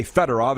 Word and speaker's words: Fedorov: to say their names they said you need to put the emphasis on the middle syllable what's not sergey fedorov sergey fedora all these guys by